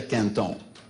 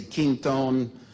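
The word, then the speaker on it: Quinton: was called Plasma de Canton. Okay? Some of you say Kingtone, but the real French pronunciation is Canton.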